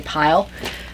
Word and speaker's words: pill: It's spelled pill, but I've heard people say pile. Usually I hear pill, But this is, but I also hear it said a lot.